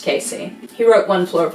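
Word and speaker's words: Kesey: and author Ken Casey I think it's pronounced Casey he wrote one floor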